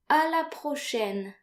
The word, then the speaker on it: à la prochaine: So note here that A and I are pronounced like AI in the English word said.